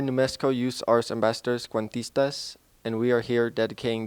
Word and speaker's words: Cuentistas: We are New Mexico Youth Art Ambassadors, Conquistas, and this was dedicated to our friend Tawny K. Let's say that one more time, though. Cuentistas.